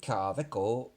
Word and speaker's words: Kaweco: Now, the reason I'm pronouncing this kind of funny is because Kaweco is a German company, hence the introduction, which I had to look up, by the way. I can't speak German. And because it's a Kaweco with a W, W's a V, aren't they, in German?